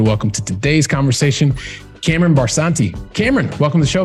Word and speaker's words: Barsanti: Gives me great pleasure to welcome to today's conversation, Cameron Barsanti.